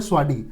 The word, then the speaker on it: Sawasdee: किया नहीं आपने आपने आपने लगभग सही प्रोनाउंस किया लेकिन ये जो एग्जैक्ट वर्ड है वो है स्वा स्वा स्वा basically this is Thai word अगर आप थाई लैंग्वेज में देखेंगे ना स्वा कॉल्ड वेलकम अच्छा यस स्वा स्वा